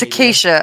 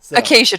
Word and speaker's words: acacia: ] they're called trees oh my god it's a Keisha I think I'm so I'm so close but you've said it wrong so many times I can't rescue it acacia trees I think is correct the acacia trees so